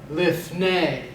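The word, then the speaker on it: לִפְנֵי: would be lift a lift nay and you want to accent the last syllable even though it's not shown Eber is always accented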